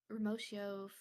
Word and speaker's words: Remotio: Remotio. Is that how you say it? Remotio or Remotio. Yep, like Remotio. remote.